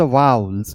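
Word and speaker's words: vowel: In English language sounds of द वाउल्स, इसे वाउल्स कहते हैं, बहुत लोग वॉवल कहते हैं जो गलत प्रोनाउंसिएशन है, तो इसे हम वाउल्स कहते हैं।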